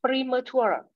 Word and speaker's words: premature: Premature. Yep. So the stress is on the last syllable.